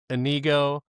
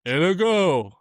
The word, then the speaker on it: Inigo: like cut cut Andre just so you know it's pronounced anigo and he's like in a go.